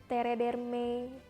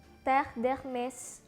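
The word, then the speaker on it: Terre d'Hermès: masih sering banget dengar orang ngomongnya itu masih Tere Mei atau Terre d'hermes Hai bukan bukan kayak gitu cara bacanya Yang benar itu chef Darkness teh deh Smash hai lalu ada kata geh langsung Hai ini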